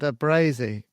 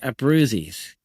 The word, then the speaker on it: Abbruzzese: So he he he's pronounced it a bruises.